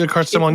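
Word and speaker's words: Billecart-Salmon: So I do have a brand that I want to mention, and I butcher pronunciations constantly, but Bilcar Salmon, is that how you say it, John? Bilcar Salmon, yeah, that's you're good enough.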